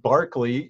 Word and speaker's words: Berkeley: yes it is pronounced Berkeley even though the town of Berkeley California is named after him we have two different pronunciations one for the person one for the town now the dates there